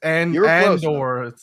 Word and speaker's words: Andor: Andor is great, although it's spelled with an A, movie spud, but that's Endor is the moon that Return of the Jedi took right. place on. Yes. It's Andor.